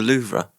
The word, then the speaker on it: Louvre: Did you see what happened at the Louvre?